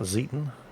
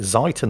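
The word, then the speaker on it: Zieten: shots out against that zetan I pronounced it zeiten at first which is horribly horribly wrong and all the Germans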